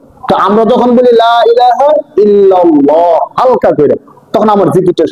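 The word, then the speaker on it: لا إله إلا الله: আর হামজার উচ্চারণ হয় সহজ হালকাভাবে। লা ইলাহা ইল্লাল্লাহ।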